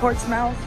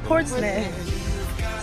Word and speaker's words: Portsmouth: It's not pronounced Portsmouth, it's Portsmouth.